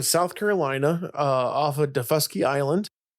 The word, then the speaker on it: Daufuskie: So it's from South Carolina uh off of Defusky Island. And we we looked it up. If you're wondering, it's Deuski. Is Defusky with an emphasis on the second.